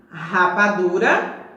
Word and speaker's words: rapadura: As palavras que estão aqui: rapadura, registro e rua. Quando eu pronuncio essas palavras iniciadas com a consoante R, sai aquele barulho assim raspando lá na garganta.